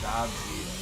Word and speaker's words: Jadzia: Okay, so it's not Jadzia. It's Jadzia.